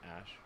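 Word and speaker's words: Æ: rogan dude rogan's awesome the ae is like pronounced ash yeah and then uh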